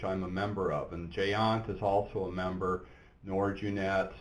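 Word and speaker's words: GÉANT: Scott, can you share any status or plans for collaboration on security incident response with international partners like GEANT? Is that how you pronounce that? G-E-A-N-T?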